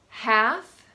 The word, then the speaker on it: half: Half, salmon, would, could, and should.